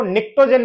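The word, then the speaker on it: pnictogen: नाइट्रोजन family को निकट्टोजन भी बोलते हैं। पी साइलेंट है इसमें।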